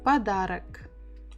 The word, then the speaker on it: Подарок: Again, буква П, П, П, О, Д, А, Р, О, К. Подарок. Подарок. Подарок. Подарок. Подарок. Подарок. Подарок. Подарок. So stress the second syllable, подарок.